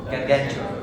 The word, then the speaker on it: Gargantua: some something like that yeah what gargantua gargantua so I'm pronouncing it right fine so if you're near